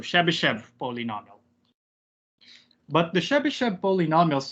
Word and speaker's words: Chebyshev: finish uh chebyshev interpolation pronouncing chebychev the westernized spelling is shabby chev pero young through russian a chebychev and i had a russian professor her uh that is so ambassador chubby chef so but i'll try to stick to the western pronunciations of chebyshev polynomial but the chebyshev